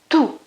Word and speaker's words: tutto: First of all, because of the T sound, it's a consonant, and it's pronounced in a completely different way from the English pronunciation. In English, you'd say two, okay? In Italian, you'd say tu. It's not tu, it's tu. So we have first T and then a double T.